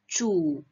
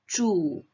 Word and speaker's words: 煮: Ingat nada 3, 煮. Dan jangan lupa teman-teman, ini adalah ZH. Jadi lidah kita harus harus di langit-langit mulut kita ya. Jadi 煮.